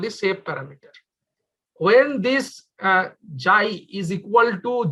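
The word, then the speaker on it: xi: This is called actually, this symbol is pronounced as JAI, ZAI. If you don't, may not find the symbol right away, just type JAI, JAI. This is pronounced at JAI.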